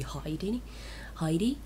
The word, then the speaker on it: Heidi: I'm gonna say Heidi because that's what the way we Finns pronounce it. It could be Heidi, but I'm gonna say Heidi.